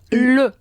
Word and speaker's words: le: Dilo conmigo, le. Le. Se escribe le, pero se dice le. Tienes que poner boca de o y decir una e.